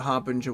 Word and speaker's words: harbinger: Harbinger. No, it's not Bringer, there's no R, but I used to just pronounce it like that all the time, so it's hard to unlearn that habit, so to speak.